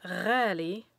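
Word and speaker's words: غالي: The letters GH will represent the sound R. Imagine gargling water after brushing your teeth. This is the sound that R makes.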